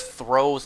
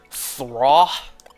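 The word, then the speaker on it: Throh: You know, as a kid, I used to pronounce Throw's name as Thraw. And then, you know, their pronunciation is throw, as in like throwing something, and then sock, as in like you put on a pair of socks.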